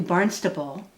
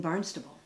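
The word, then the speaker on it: Barnstaple: The name chosen for the new village was Barnstable, since the area posed a striking resemblance to Barnstable, pronounced with a B but spelled with a P, England.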